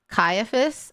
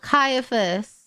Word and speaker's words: Caiaphas: Caiaphas? Oh, Caiaphas.